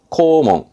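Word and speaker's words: 校門: 네 학교 오면 교문입니다 발음은 코몽 코몽 요거는 등짜지요 그래서 등교하는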